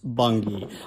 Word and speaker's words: Bungay: Now, the next stop here is the Druid Stone of Bungay, which I've been told is pronounced Bungay.